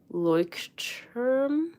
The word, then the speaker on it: Leuchtturm: You'd pronounce the U in look, the oi in oyster. Maybe that helps. So like Leuchtturm. Oh, Leuchtturm?